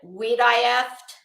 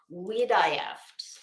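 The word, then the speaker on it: Wiederhoeft: pronounce this w-i-e-d-e-r-h-o-e-f-t well unless you said we'd die after then you would be wrong we die after I had to listen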